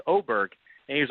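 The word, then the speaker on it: Åberg: is I guess in Sweden really pronounced Oar and there's some weird sound you make at the end of the name and I was walking with him at Riviera and I said we're not pronouncing your last name correctly and the last few years you told us to call you ludvig aberer and now we're calling you ludvig oberg and he was like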